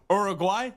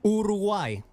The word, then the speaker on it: Uruguay: I'll accept wait urugay Uruguay urugai I can't say like you got you got to roll the r and you got to